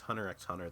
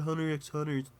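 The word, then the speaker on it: Hunter × Hunter: Even though people say don't call it Hunter x Hunter, the X is silent. I'm like, well, I like saying Hunter x Hunter.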